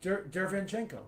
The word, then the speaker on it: Derevyanchenko: How do you pronounce his name? I picked Derevyanchenko to win. Longest name ever, Shenko, yeah. Derevyanchenko.